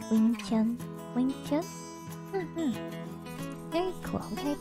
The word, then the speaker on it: Wing Chun: So in Mandarin dialect, it's pronounced Yongchun. But the wing comes from Cantonese, which is more common, I guess, when or is not more common.